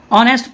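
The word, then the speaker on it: honest: नहीं हो रहा है ऑनेस्ट पढ़ रहे हैं लेकिन ऑनेस्ट क्या हो रहा है ऑनेस्ट के जगह पे ऑनेस्ट पढ़िएगा ऑनेस्ट नहीं पढ़ा जाता है क्या पढ़ा जाता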